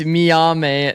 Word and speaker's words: Miyame: It's Miyame, not Mimi.